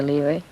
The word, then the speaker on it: lyra: I'm learning this act, the lyra, which actually is a European pronunciation of lyre.